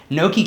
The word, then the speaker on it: Noki: So yeah, Noki came about because after that show and feeling